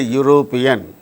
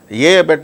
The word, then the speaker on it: European: Mr Stalin is a European Mr Stalin is an European European Mr Stalin is a is Dash European open y u ya U consonant sound start whether it is starting